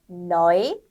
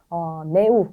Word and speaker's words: neu: 네, neu, Euro, 유로 아니라 Euro, äußere aufräumen. 네, 그래서 네우 이런 게 아니라 나이라고 읽는 거 I 발음 주의해 주시고요. 이제 유로 아니고 아이로였습니다.